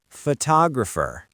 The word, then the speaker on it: photographer: Because the stress moved to the second syllable, that second O suddenly wakes up. It becomes a strong, clear vowel. Tog.